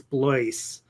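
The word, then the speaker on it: Blois: so i have um i have a friend whose name is blice and nobody can pronounce his name properly uh the first time um and i've known people who have known bloyce for many many years and still still can't pronounce his name for whatever reason how do you spell it it's b-l-o-i-s oh i never get that yeah so he has that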